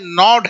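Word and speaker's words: gnawed: अब च्यूज है, नॉड है, यहां पे जी साइलेंट होता है।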